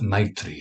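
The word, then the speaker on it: मैत्री: Sanskrit just for your information right now it's pronounced as Mitri of course Sanskrit is the mother language there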